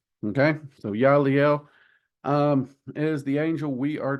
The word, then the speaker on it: Yeliel: So the second Goetic angel is Yaliel, is how I have always heard it pronounced. And when I look up the phonetic pronunciation, that is what it comes up as a Y, Y-E-H dash Lee Lee dash Ell.